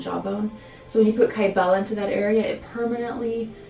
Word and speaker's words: Kybella: Tell me about Kybella.